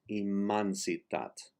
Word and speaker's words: immensitat: In the Catalan language, for the vowel E, if it is not placed in the accented syllable of the word, the E is pronounced like an A. So in this case, immensitat, it is immansitat.